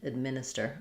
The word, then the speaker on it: administer: So, it's going to be a schwah there or a reduced a very, very short little sound. Um, so administer sounds like administer. I would maybe write it with orid or even add, but just try not to do anything clear there. You don't want administer more administer.